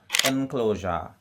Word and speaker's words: enclosure: Enclosure, ENCLOSURE, enclosure.